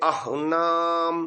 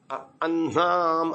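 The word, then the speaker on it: अह्नाम्: नाम उत मध्य अनाम इसका भी उच्चारण प्राय लोग गलत करते हैं अन अन्नाम ऐसा कर देते हैं कुछ न पहले बोलते हैं ह बाद में बोलते हैं जैसे ब्रह्म में ब्रह्म ऐसा कर देते हैं यहां भी ऐसा ही कर देते हैं हां ये होना चाहिए उत मध्य अह नाम उत मध अनाम आपका ह में अ का भी उच्चारण आ रहा है अह नाम ऐसा हो रहा है अनाम हा ये ठीक है अह नाम उदिता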